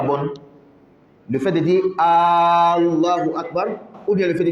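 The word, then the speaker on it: الله أكبر: est-il le plus grand Allah AKB c'est pas bon il faut bien dire il faut bien prononcer Allah Akbar maintenant il y a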